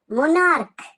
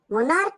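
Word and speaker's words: monarch: উচ্চারণটা ক এর মত মনার্ক মনার্ক মানে মানে হচ্ছে রাজা। রাজাকে আমরা বলি মনার্ক। কিং মোার্ক। দেখো এম ও এন এ আর সিএইচ। সিএইচ আছে কিন্তু সিএইচ এর উচ্চারণটা ক এর মত।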